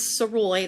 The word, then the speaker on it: Sirois: was way easier, but it is Sirois. That's how it's pronounced. Lots of people have asked. Just think Illinois. Yeah, like Illinois, exactly.